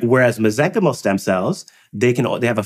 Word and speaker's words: mesenchymal: Whereas mesenchymal stem cells, they have a finite ability to grow. So they don't keep growing, which is why they're safe. And so, when we grow the mesenchymal stem cells, the soup that they grow in,